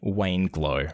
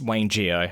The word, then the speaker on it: Wayne Geo: He calls me Wayne Glow because, it's Wayne Geo.